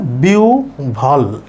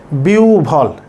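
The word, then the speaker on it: বিহ্বল: আছে আছে আমরা জানি মাঝখানে যুক্তবর্ণ হ বা ব থাকলে তার আগে যদি ই থাকে তাইলে ওইটার পরে এই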